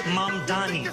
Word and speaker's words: Mamdani: Cuomo, and furthermore, the name is Mamdani, M-A-M-D-A-N-I, you should learn how to say it.